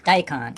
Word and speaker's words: daikon: I mean, if you say it the English way, it's daikon. If you say it the Japanese way, maybe it would be, what would it be? Daikon. Daikon. Daikon. The N is kind of light.